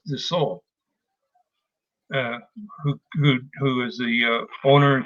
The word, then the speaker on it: Dassault: I guess it's pronounced Dassault, who is the owner and creator of DraftSite.